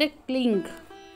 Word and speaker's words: क्लीं: ग बोलते hurrying क्लिंग क्योंकि जो क्लीम शब्द है वह भगवान श्री कृष्ण के लिए यूज होता है और देवी का शब्द क्लिंग ओ ऐ हरिंग क्लिंग चामुंडाय विचे यह इसका शुद्ध उच्चारण है ओ में परब्रह्म का